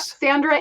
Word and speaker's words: Sandra: Pronounced Sandra, right? Just like it sounds, just like it looks? Yep, Sandra.